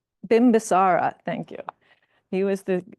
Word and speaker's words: Bimbisara: was the son of King Bim basari um that's not the proper pronunciation hold on uh bimbisara thank you he was